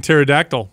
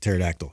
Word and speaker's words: pterodactyl: some sort of history why is there a p in pterodactyl pterodon yeah what wait pterodactyl yeah pterodactyl don't worry